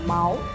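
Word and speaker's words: 毛: C'est pas les plumes, ça se dit presque pareil qu'un mot pour parler d'argent. Ouais. Et le plume en chinois, ça prononce comme mao.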